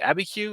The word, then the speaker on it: Abiquiu: Is it Abiquiu?